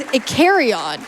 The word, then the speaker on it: Icarion: The flying type EV name is Icarion, like Icarus.